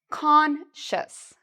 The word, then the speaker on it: conscious: So the C-I-O-U-S has a sh sound, like you're telling someone to be quiet, sh. And then we have a short U sound, shus, and an S at the end. So let's say this one together. Conscious, conscious, conscious. Okay, excellent.